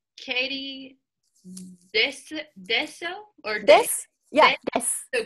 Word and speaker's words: です: And then again, the verb like I am, or are, is, those be verbs, it's des, it comes at the end.